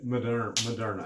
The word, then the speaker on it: Moderna: That's how they say it here. Moderna actually.